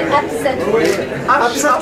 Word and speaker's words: Hapsatou: Il faut pas me l'écorcher, Absatou. H-A-P-S-A-T-O-U. Ah oui, ça s'écrit comme ça, se prononce.